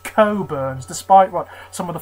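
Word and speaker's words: Cockburn's: Port this is curns It's pronounced curns despite what some of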